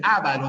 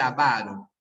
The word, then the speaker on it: avaro: avaro de molier ya no es el ávaro de molier es el avaro es el avaro bien